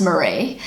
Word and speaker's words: Maree: So the IE is the more sort of popular way of spelling it, but her name is still pronounced Maree.